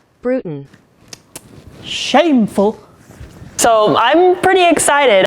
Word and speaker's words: Bruton: did not say James Brunton not at all man did you just mispronounce his name after watching him for seven years even Google knows how to pronounce that Bruton shameful so I'm pretty